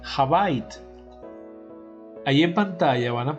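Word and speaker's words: הבית: Es decir, dentro del judaísmo ya el templo se conocía como la casa, o que en hebreo se pronuncia Habait.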